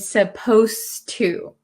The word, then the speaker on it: supposed to: suppose to suppose and supposed to when we say supposed to it sounds like the D disappears but it's actually still there so be careful with